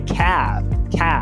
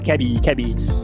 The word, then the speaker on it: cab: Então, táxi é cab. O brasileiro quer falar cab. Trabalho é job. O brasileiro quer falar job. Então, não coloque esse I.